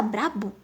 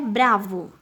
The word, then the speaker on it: bravo: Ó, isso aí até a gente às vezes fala. Nossa, mas você tá brabo? É bravo.